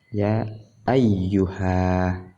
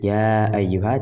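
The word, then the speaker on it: يا أيها: Ya ayyuha tidak ada alif ya-nya ini, tapi dibaca tetap ada alif ketika dibaca. Kemudian seperti ya berjumpa dengan contoh alam, kita katakan Ibrahim.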